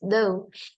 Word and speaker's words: though: This word is though, and two letters G, H is we don't pronounce. Okay, just though.